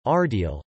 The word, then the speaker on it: Ardeal: Romani, Transylvania and Romanian, the region is known as Ardeal, pronounced Arde, Al, or Transylvania, Transylvania, in Hungarian as